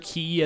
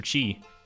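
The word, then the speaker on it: Qi: Mr. Key as a roommate, or Mr. Chi, as I think that is actually pronounced.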